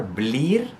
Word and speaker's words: blir: Remember to hit that R, blir, right?